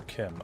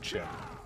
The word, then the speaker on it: Chim: It's pronounced Chim. But then that's, like, with the Chimer, I think most people call them Chimer and not Chimmer. But most people refer to Chim as Chim instead of Kim. So it could be, I suppose it could be Kim. And we've all just been saying it wrong this whole time, but ultimately I believe it is Chim.